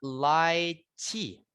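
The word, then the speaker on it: lychee: Ada laich. Laich bacanya laich gitu ya.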